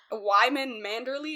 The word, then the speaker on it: Wyman Manderley: So, Lord Wyman Manderley, is that how you say his name?